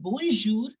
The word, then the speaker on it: bonjour: told us this rule generally we keep last alphabet silent but when you are pronouncing the word bonjour I can see that I can listen that you are pronouncing R also so what is this